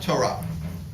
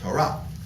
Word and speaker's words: Torah: then you have Torah or if you follow an Ashkenazi emotive pronunciation Ashkenazi all right kind of time deal with that if you follow a European Jewish mode of pronunciation Torah right but the right way to say it is Torah okay uh to